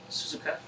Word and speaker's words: Suzuka: of times my name's suzuka how do you spell that s-u-z-u-k suzuki right suzuka yeah it's wonderful i'm really